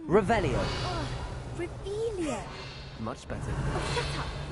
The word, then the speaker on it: Revelio: Rebellion. Saying it wrong. Revelio. Ugh, Revelio.